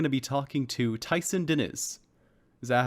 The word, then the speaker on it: Diniz: This week, we're going to be talking to Tyson Diniz. Is that how I say it? I guess I've never really said it before. Diniz or Diniz? Diniz. I see the emphasis is on the other syllable.